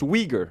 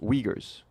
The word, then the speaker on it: Uyghur: It says it's pronounced Uyghur. I'm sorry I say I called them Uyghurs like Cenk Uygur, folks. Uyghurs.